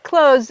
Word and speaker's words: clothes: So in clothes, it's such a soft TH that you really don't hear it. And if you want to take a shortcut, you can say it like the word close the door.